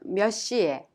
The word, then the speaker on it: 몇 시에: You pronounce the final consonant 치읓 in 몇 of 몇 시에 first as 몇, and it is prolonged to the 시옷 in the next syllable to become a strong sound, thereby pronounced 몇 시에.